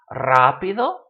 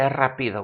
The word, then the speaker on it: rápido: Rápido, it should be rapido, but we don't say rapido, we say rápido.